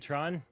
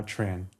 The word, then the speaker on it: Tran: This is a Stock Alternatives podcast and today's guest is Tron. Did I pronounce it correctly? Is it Tron or Tran? Uh, Tran.